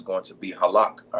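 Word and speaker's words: הלך: All right, which is again is halak.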